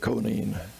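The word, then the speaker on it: Conein: of being an operation planned by conan or some pronounce it conan records exist that conine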